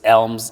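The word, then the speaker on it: Ailm: come to fruition sure it's also maybe hard to pronounce but Elm a i l m is the first letter of the Irish tree language it's an ancient m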